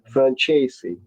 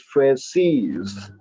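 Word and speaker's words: Franzese: In Italian, Michael's name would be would be pronounced franchesi franchesi. It's like a tez sound like pizza franci. But he pronounces it. His family, they've always pronounced it as as Frances.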